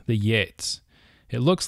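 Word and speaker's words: Geats: is from a tribe of people called the Yates it looks like geets but it's the the GE in old english is pronounced yeah so it's Yates though the story shows remarkable invention and artistic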